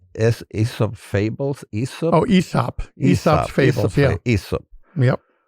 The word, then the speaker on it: Aesop: This is, you pronounce it like Aesop Fables? Aesop? Oh, Aesop.